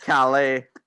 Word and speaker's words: Calais: What, Calais?